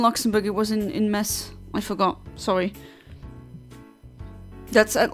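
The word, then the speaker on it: Metz: It was in in mess. I forgot. Sorry. That's at least my French friends. Uh they they hate it when I say Mets.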